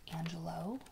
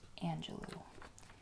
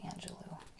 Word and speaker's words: Angelou: Some people say Angelou, I believe. I'm not sure what the right pronunciation is, but Oprah says Angelou, and she is God. I'm just kidding, but she was very close friends with her, so I say Maya Angelou.